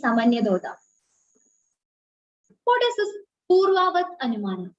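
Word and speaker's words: Sāmānyatodṛṣṭa: The spelling is like an R is there, but the pronunciation is Samanyadoda.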